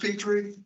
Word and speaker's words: Petrie: Is it pronounced Petrie? Yes, sir. Mr.